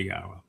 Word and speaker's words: Yahweh: And the 4 letters in Yahweh's name are all vowels. Each one of them has their own sound. So the Y is like the Y in yes, yeah. And the first syllable there would be ah, and as in haya, but ah, and the ah is from the hey. The hey does not have any influence on the wah sound. So it's not Yaho, it's Yah-O, because the O sound comes from the wah.